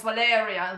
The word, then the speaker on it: Valeriya: No, it's Valeriya. The correct Ah, way is Valeria. So the stress on the second syllabus.